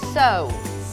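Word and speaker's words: sew: ว่า ซิ นะ คะ แต่ ออก เสียง ว่า so so แปล ว่า เย็บ ผ้า ค่ะ I Always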